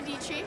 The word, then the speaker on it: Dietschy: My name is Sarah Dietschy, rhymes with Peachy.